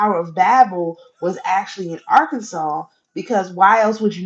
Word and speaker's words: Arkansas: mean when when they say Pagan no they Arkansas our a-r-k a n s a s a